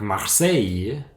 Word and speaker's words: Marseille: pas nécessairement des règles avec Marseille on ne prononce pas le l mais avec Syli en